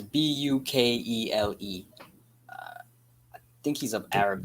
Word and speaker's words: Bukele: Yeah, I don't know how to pronounce it exactly. It's Bukele.